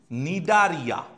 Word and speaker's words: Cnidaria: English স্পেলিংটা একটু খেয়াল রাখবে, এগুলো সি দিয়ে শুরু, সি সাইলেন্ট ওয়ার্ড, টিনোফোরা। এই দুটোই কিন্তু সি সাইলেন্ট ওয়ার্ড, একটা নিডারিয়া আর একটা টিনোফোরা।